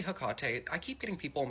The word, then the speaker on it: Hecate: And yes, I say Hecate. I keep getting people in my comments like, you don't even know how to pronounce her name.